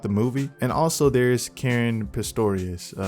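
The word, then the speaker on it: Caren Pistorius: movie and also there's karen pistorius i believe is the correct way to pronounce her name who plays rachel in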